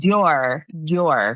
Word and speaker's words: Doerr: I think it's Doerr. That's at least how I recall the audiobook pronouncing it.